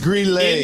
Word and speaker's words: Greeley: It's pronounced Greeley.